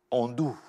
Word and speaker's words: Ando: J'ai bien prononcé votre prénom Andou ? Andou. Exactement. Oui, c'est vrai qu'il y a un O à la fin, mais...